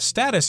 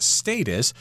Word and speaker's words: status: him seriously and therefore his status was solidified status here could also be pronounced status I've heard it pronounced both ways that just